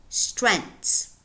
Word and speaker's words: strength: this word only has how many syllables strength strength hmm how do I know well how many vowels do I have strength just one in other words this is a one syllable word it's a mono syllabic word which has a very complex onset constituted by three consonant sounds in a very complex coda with one two three four consonants strengths okay the the same